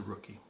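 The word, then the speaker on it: Rooci: So the name of the company is Rookie Wear. It's a Polynesian designed apparel line. And Rookie Wear is spelled R-O-O-C-I. You can see that there, R-O-O-C-I. And it's a play on the sports term rookie.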